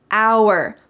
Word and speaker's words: hour: hour hour notice that the h is silent hour we waited for an